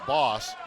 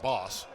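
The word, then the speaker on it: Bosse: John Boss, there's another change in pronunciation. He had gone by John Bos. Now it's John Boss.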